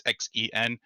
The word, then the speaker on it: Xen: the final level called I think it's Chen's castle or Zen's castle I don't know pronounce it it's Xen and this level has